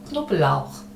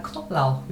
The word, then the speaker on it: Knoblauch: 그 다음에 der Knoblauch 자, 이거는 우리식으로 하자면 크노블라우흐 이렇게 발음하면 되는데 실제로는 이런 발음들 크라든가 브라든가 이런 발음들을 우리말에 모음을 넣어서 발음하지는 않아요. 잘. 좀 살짝 지나간다고 생각하면 되겠습니다. Der Knoblauch 네, 이 정도로 Der Knoblauch 이거는 마늘이에요.